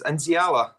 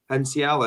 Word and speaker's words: Nsiala: And maybe being in control of somebody like how do you pronounce his name? Sorry, it's Nsiala. Nsiala, is it?